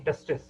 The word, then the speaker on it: testes: is also called as, the pronunciation is same, testis, but the spelling differs, ES. One, it is IS, when it is more than one, it is called as ES. Pronunciation is same, testis, here also it is testis.